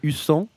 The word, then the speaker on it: Husson: Husson, je ne sais même pas Alors, comment on Pour moi, prononce. c'est Husson, parce que du coup, il y a deux Voilà.